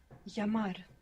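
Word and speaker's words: llamar: to phone the telephone which we said is pronounced like why in most of Spanish-speaking world to call yamar how do you say I call if you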